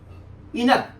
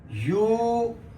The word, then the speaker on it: eunuch: ये लिखा है इनक. अभी इनक नहीं है, ये है ई. यहां साइलेंट हो जाएगा. यूनक.